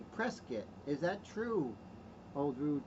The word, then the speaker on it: Prescott: are not from Arizona they say Prescott but people people from Arizona say preset is that true old